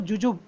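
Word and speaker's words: jujube: इसको जुजुब इस तरीके से बोलेंगे, बा बहुत स्मूथली आना चाहिए, उस पर स्ट्रेस नहीं देना है, जुजुब इस तरीके से।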